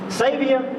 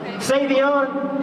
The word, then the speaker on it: Savion: Savior? Wait. Savion? Spell that for me. Okay, like it's spelled S-A-V-I-O-N. Okay, Savion, almost like Savior. Almost like Savior, but without, yeah, so, no, yeah, we're going to take that off.